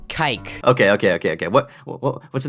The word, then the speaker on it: kike: It rhymes with bike. Kike.